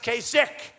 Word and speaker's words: Kasich: you pronounce his name kasik it's I H every time I see it I say Cas H but it's pronounced Casi so I'm doing a